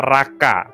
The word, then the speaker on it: racha: itu adalah Raka ya tulisannya racha tetapi bacanya Raka nah akar kata ini